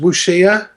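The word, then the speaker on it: wuxia: it's so it's Paradigm I think it's pronounced wushia you know w-u um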